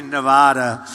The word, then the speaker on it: Nevada: I said when I came out here, I said, nobody says it the other way. It has to be Nevada, right?